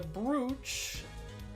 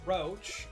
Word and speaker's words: brooch: Police report, the revolver, the brooch, roach, as dumb people pronounce it, mixing board, autopsy report, details.